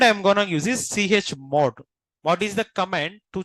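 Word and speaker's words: chmod: need to call this CH mode which command don't pronounce together okay if you pronounce together what will happen Cham mod will happen what will happen Okay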